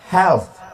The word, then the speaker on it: health: Sehat itu bahasa Inggrisnya health. Di ujungnya ada th health gak bisa awak tanya how your health. Health artinya neraka jahanam. Kalau health mesti dibaca pakai these bagus.